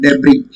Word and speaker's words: debris: That is called debris. It's not debris. Okay. Whenever there is an earthquake, there are a lot of debris. Debris. S is silent here.